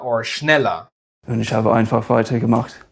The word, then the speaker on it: schneller: "Er" in British is "uh", but in German is always pronounced "ah", a somewhat dull "ah".